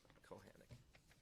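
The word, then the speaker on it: Kochanek: Kochanik. Okay. Please help me spell. Kochanik, but it's spelled Kochanik. Phonetically, Kochanik? Kohanic.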